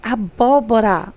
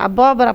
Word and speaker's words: abóbora: é acentuada por quê nós temos abóbora ó acentuada na terceira sílaba antepenúltima vermelho é paroxítona é obrigado a ter assento lâmpada proparoxítona abóbora proparoxítona abóbora proparoxítona lâmpada